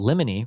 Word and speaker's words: limony: Oh, limony rhymes with Jiminy.